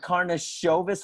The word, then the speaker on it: Karnisovas: terrific team president and arturus karnasovis yes that's how you say it karna silvas i got it right yeah yes karna shovus or karna sovis karnashovus let's just call him ak